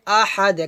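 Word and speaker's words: أحد: কুলহু আল্লাহু আহাদ আহাদ হবে না কি হবে আহাদ কারণ দার হচ্ছে কলকলা হরফ তাই আমাদের এখানে কলকলা করতে হবে তো এভাবে উচ্চারণটা হবে কুলহু আল্লাহু আহাদ আহাদ আহাদ আমার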